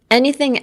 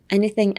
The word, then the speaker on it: anything: traditional pronounced. And next is anything else. Anything else?